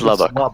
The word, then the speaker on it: Lubbock: warning continues for Lubbock is it Lubbock now I've gotten confused by someone mispronouncing it earlier it's Lubbock Texas until 4:45 p.m.